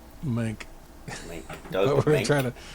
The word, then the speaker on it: Mahnke: It's probably like, Mink. Doug We're Mink. trying to. If it's got a consonant in it, you got to say it. So it's like Monk. Right. Yeah, Monk.